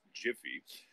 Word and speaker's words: GIF: going to correct you it's jiffy and i'll tell you why it's jiffy because the joke is that you'll get these images in a jiffy gif just as soon